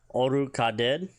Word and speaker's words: orukaded: A bear, Orukaded, O-R-U-K-A-D-E-D, Orukaded.